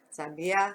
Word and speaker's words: sabiá: Vamos separar as sílabas de sabiá. Sa, bi, a. Como eu vou descobrir a sílaba mais forte? Vamos fazer a técnica do estalar dos dedos. Sabiá, sabiá, sabiá, sabiá, sabiá. Ó, o A vai lá em cima. Então, a sílaba tônica é o A. Nós temos uma palavra oxítona.